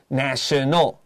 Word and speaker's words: nation: Be careful when you make this a noun. Mm-hmm. We don't say nation. The A becomes a long A, so the noun form is a nation, the adjective is national. 所以它的变成形容词之后,它的那个A的发音就会不一样了。 That's right, so a nation, national.